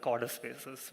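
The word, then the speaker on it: Codespaces: selected Tab and it pronounce code spaces as Cod spaces which should which I mean is the correct way to pronounce it um something weird about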